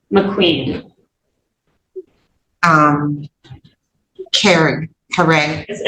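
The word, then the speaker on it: Caree: Um Karen Kare. It's pronounced Kare, but it's C A R E E.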